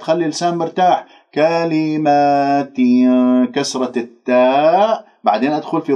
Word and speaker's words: كلمات: لا تقول كلمات فتاب لا تمل الألفات خلي اللسان مرتاح كلمات كسرة التاء بعدين أدخل